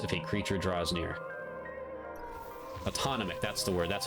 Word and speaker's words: autonomic: Autonomic. That's the word. That's how you pronounce it.